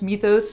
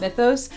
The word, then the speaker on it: Mythos: By the way, I really do think in my heart of hearts it's pronounced Mythos, not Mythos. I asked on my Instagram story and the entire Greek diaspora DM'd me to tell me it was indeed pronounced Mythos in Greek.